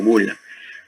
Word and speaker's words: bulla: Dentro de esta, en la bula, se escribe bulla, pero se pronuncia como bula.